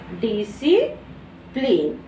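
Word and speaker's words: discipline: बाद क्या है, आई, तो यहाँ सी का प्रोनाउंसिएशन नहीं होगा और हम इसे क्या पढ़ेंगे, डिसिप्लिन, डिसिप्लिन।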